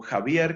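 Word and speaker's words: Xavier: lo que el filósofo javier que se escribe con x subir y que se escribe con zeta en lo que javier subir llamaba formalidad stimuli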